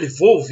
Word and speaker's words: Lviv: A gente fala Lviv, mas ele falou que parece que a pronúncia é Lvov, né?